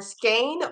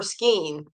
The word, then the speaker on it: skein: how do you say crochet not crochet yarn skein or skein I'm a skeener a skeener hmm reflected good